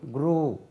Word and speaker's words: grew: It is not grew, grew. It rhymes with blue.